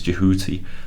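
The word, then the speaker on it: Djehuty: name of the god that in egyptian he's jehuty um so jehuty mose i suppose is a kind of it's closer to the egyptian original um in the way that the old kingdom names like khufu is closer to the greek to the egyptian original than kiosks but here it's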